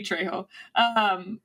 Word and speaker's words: Trejo: It's Danny Trejo. Let me finish the question, because it's perplexing. Danny DeVito or Danny Trejo play you in a movie? So there's no fucking way, man. Danny Trejo is he's Uncle Machete from Spy Kids.